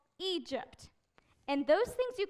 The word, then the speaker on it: Egypt: people the Israelites lived as slaves in Egypt Egypt good job but it's pronounced Egypt the Israelites were slaves in Egypt but then